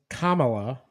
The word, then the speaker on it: Kamala: she stand for uh one it's Kamala uh that is racist to say it wrong so uh where to